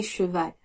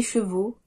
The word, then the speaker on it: chevaux: Ne dites pas les chevals ou des journaux, mais bien des chevaux et des journaux.